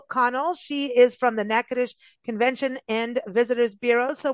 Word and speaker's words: Natchitoches: o c h s nacadish it doesn't sound how it's spelled but you've got to go there don't let that spelling get you just go there check out nacadish docomo be talking about